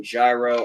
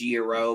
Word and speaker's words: gyro: have the best freaking gyro i've ever had you know that's not how that's pronounced right yes i know that's i know it's supposed to be pronounced euro but come on [